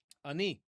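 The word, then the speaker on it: אני: So, the word ani, it's with a super short a vowel. Ani. Ani. Okay. So, don't hold it out. Um in Arabic it's Anna with a a longer a vowel at the beginning.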